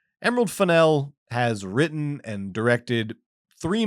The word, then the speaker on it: Fennell: And yes, it is pronounced Finel. Not Fennel as in the herb, but Finel as in the cake.